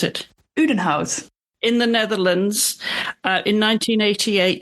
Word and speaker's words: Udenhout: But let's start at the beginning, Marit, because you were born in, how do you pronounce it? Udenhout.